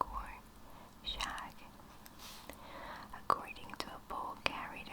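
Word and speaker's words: шаг: The Russian for step is spelled war and pronounced it looks like war. Shag.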